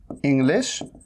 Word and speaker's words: English: इंग्लिश today, इंग्लिश, इंग्लिश, इसे स नहीं कहना है, इसे स नहीं कहना है, इसे क्या कहना है, इंग्लिश, इंग्लिश टुडे, टुडे।